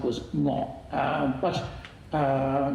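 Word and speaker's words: 鵝: Uh um and in Cantonese, it goes ngoh ngoh ngoh.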